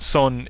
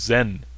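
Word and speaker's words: Seon: Buddhist Meditation Retreat and son is um you've probably heard of it as Zen Buddhism that's the Japanese pronunciation of the Chinese character in Kore its son and only Buddhism receives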